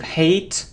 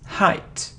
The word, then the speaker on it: height: isn't delete its delete it delete it isn't hate hate or eight its height height it isn't towards its the words the